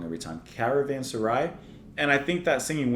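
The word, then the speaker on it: Caravanserai: this I really really love the atmosphere of Caravan asai I say it wrong every time Caravan Sarai and I think that singing winds kind of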